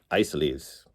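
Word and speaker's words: Isaly's: This is the Isleys disc, which I pronounced Isleys, I believe, the first time I showed it. And in Western Pennsylvania, it is pronounced Isleys.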